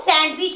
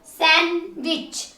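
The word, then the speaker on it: sandwich: आप बोलते हो सैंडविच वो सेंड बीच नहीं होता सेन विच दी साइलेंट होगा दी नहीं बोला जाएगा इसको बोलोगे सन विच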